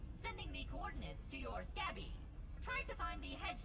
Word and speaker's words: Scabby: Okay, so they actually pronounce it Scabby. I was wondering about that.